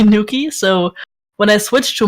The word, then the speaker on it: Noukky: I just called my character Noukky, and nobody ever pronounced the A anyways. They all called me Noukky.